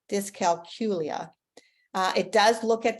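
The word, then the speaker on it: dyscalculia: discal culia disc calcula tough one because I used to say it wrong until I heard a lady um just do a presentation from this from learning disabilities America it is like saying the letter Q there in the middle discal culia uh it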